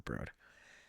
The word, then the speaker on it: The Broad: the street is the Broad and I was mispronouncing. I was calling it the broad but I was very quickly told no this is the broad and it's just an amazing amazing art gallery